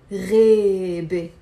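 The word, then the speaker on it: غابة: So in Levantine Arabic, we pronounce the A as a E, rebe, rebe.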